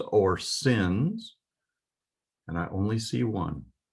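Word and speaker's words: שׂ: If the dot is over the left of the three prongs of the fork, then it's pronounced as an S sound, sin.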